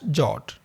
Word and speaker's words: JWT: standard Json web token in short pronounced as jot now regarding this topic